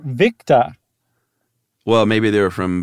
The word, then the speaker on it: Victor: They have for O for Oscar, they say to pronounce it Oscar. And then oh, really? Victor, Victa.